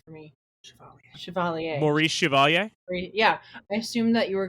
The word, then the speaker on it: Chevalier: Chevalier.